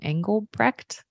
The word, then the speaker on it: Engelbrecht: link his Instagram handle how do you say your last name anglebrecht right okay it means what